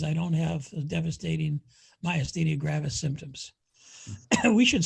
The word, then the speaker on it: myasthenia gravis: that's improved is i don't have the devastating myasthenia gravis symptoms we should spell that doctor for the people who are watching